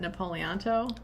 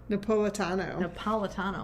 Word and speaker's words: Napolitano: Napoliato? Napolitano, oh my gosh.